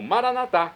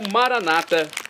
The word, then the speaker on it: Maranata: e agora eu clamo maranat como dizemos nós católicos ou Maranata como dizem nossos irmãos das Comunidades evangélicas protestantes não importa a pronúncia o significado é o